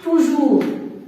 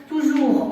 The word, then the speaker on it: toujours: avec E, pour être, toujours, S ne se prononce pas, toujours en contact, ici, T se prononce, comme j'ai déjà dit, il y a quelques exceptions.